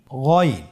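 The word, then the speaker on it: غين: বানান ছাড়া বলুন গিগু এই গাইন হরফটি মোটা অক্ষর উচ্চারণ করার সময় অবশ্যই মোটা করে বলতে হবে।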